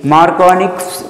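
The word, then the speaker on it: Markovnikov: Here actually after Ni Markovnich's rule, you cannot see this is actually silent here K. Markovnich's rule is there.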